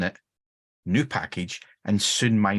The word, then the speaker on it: nupkg: Now, I pronounce that in the the common vernacular way, which is nupkeg.